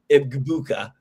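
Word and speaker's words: Egbuka: When you look at his entire season, he drafted that Emir Ibuka guy, which ended up working out well for him. Yeah, I said it wrong, Steve. Ibuka.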